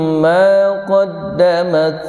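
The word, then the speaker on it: ما قدمت: Alimat nafsum ma qad, hati-hati maknya tidak dibaca lurus tapi diayun. Alimat nafsum ma qaddamat wa akharat, ya.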